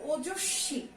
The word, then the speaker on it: ওজস্বী: এটার উচ্চারণ হচ্ছে ওজস্বী।